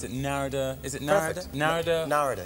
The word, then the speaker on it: Narada: Narada is it Narada Narada yeah like Florida you know Florida Michael Walden I've admired